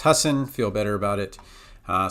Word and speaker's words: Husson: with the list okay we look at oops Hassan I just that that really bugs me that I can't pronounce okay I've verified it's Husson feel better about it uh so when we